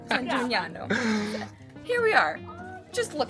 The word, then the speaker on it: San Gimignano: Sam Gimignano. No. How do you say it? Come on, say it. Sam Gimignano. San San G G Mi Jimmy Ñ. Yeah. No. San Gimignano.